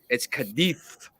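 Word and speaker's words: Cádiz: I got Cadiz. It's Cadiz. You're in Spain, yeah. The Z is like a TH, so it's like so like Cadiz.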